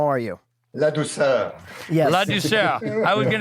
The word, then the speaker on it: Ladouceur: Ladouceur.